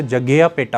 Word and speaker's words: जग्गयापेटा: जग्गयापेटा जो जगह है प्रॉपर, अगर उसे JAGGAYAPETA से लिखते हैं, जिसको कि अगर एक तरह प्रोनाउंस करें तो जग्गयापेटा होता है।